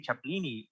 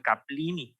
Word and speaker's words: chaplini: Por ejemplo, si es Charles Chaplin y le pones una especie como Chaplin, Chaplini, la tienes que pronunciar así, Chaplini, no usas como en latín que tendrías que ser Caplini.